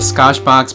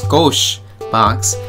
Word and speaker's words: Skoshbox: the scosche box I I originally thought of a scosh box but then I asked him you know how do you pronounce this and they said it's scosche box and I was like